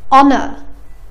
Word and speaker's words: honor: ولكن استمعوا لهالكلمتين. our. honor. حرف ال H ما نطقني ما في صوت ه.